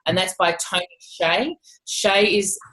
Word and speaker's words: Hsieh: is delivering happiness and that's by Tony Shea Shea is spelt t sv I H I believe um